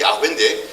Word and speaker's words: 야훼: 우리가 보통 여호와라고 발음하는데 여호와는 발음이 좀 잘못된 것이고 정상적인 발음은 야훼인데 그 야훼란 뜻이 번역할